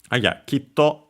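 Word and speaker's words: きっと: That small tsu at the end there, that then actually doubles the consonant in this word. On its own, if we remove the to, would be a shortening of the previous vowel, so ki. An abrupt end to the word ki.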